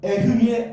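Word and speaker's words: אהיה: 하나님의 이름을 물어봤을 때 하나님이 말씀하시기를 에흐예 아쉘 에흐예.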